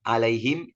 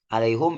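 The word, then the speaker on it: عليهم: Jadi jumhur itu alat itlaq, mau apapun dibaca kasroh, ilaihima, alaihim, ilaihim sama. Hamzah hanya di kata tiga saja, ala, ila, dan lada dibaca doma, alaihum, ilaihum, waladihum.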